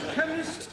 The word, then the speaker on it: chemist: Chemist does not begin with a K. It sounds like it begins with K, C-H. but that is making it chemist. No, the CH is pronounced K.